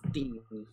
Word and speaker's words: Digne: How are we pronouncing Digne? Digne? I think it's Luca Dean. I saw Luca Dean. Says it's Dean.